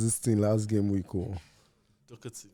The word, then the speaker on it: Doherty: We taught you how to pronounce this thing last game week. Doherty.